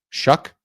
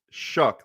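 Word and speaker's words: Shough: So weird because I'm I'm looking up how to say it and it's like it looks like cough or even show. The correct pronunciation is Shuck.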